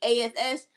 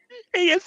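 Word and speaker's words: Nikki A.S.H.: And Nikki ASS. They should be together. ASH. I mean, ASS is okay, but it's ASH.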